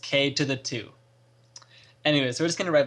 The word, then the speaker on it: Ktothe2: watched a video and it is pronounced k to the two anyways we're just gonna